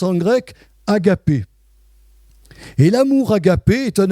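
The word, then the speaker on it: ἀγάπη: L'amour de Jésus-Christ, c'est un amour qui se prononce en grec agapé.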